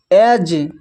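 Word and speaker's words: edge: यहाँ पर जी आया हुआ है तो डी साइलेंट है, हैज। फिर है ब्रिज, ब्रिज। एज, एज।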